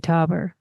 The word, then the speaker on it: Taeuber: Some of this work actually contained works from artists like George Grosz, Hannah Höch, Raoul Hausmann, and Sophie Taeuber.